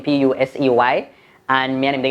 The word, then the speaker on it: Pusey: Pusey. A Pusey? Pronounce Pusey.